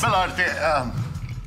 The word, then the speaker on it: Baluarte: Baluarte.